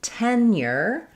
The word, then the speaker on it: tenure: So tenure starts just like the word ten with the red tent vowel, first syllable stress, and then we have the yer ending as well.